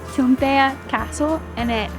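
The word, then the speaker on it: Toompea: world that I mentioned earlier is actually called chumpea Castle in it say that again and let's just a pronunciation tumpea castle and it houses uh the house of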